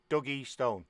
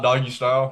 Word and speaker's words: Dougie Stone: Dougie Stone. Dougie Stone. Like Kurt Douglas and Stone. So Dougie Stone. Dougie Stone. Not doggy style.